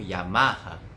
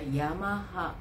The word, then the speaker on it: Yamaha: Então, mesma coisa, por exemplo, Yamaha. そうですね。seria Yamaha。 Toyota. Toyota。 Honda. Honda。 Suzuki. Suzuki。 Então, nós temos uma clara tendência a acentuar a penúltima sílaba, né, das palavras de origem japonesa.